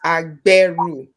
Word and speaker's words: Agberu: And then seven, when you see G and B at the same time in Yoruba, it's pronounced B. So it's Agberu.